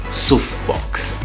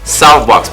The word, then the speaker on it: Soufbox: as that so everybody just assume it's it's pronounced souffbox but it's softbox people soft box the style of clothing that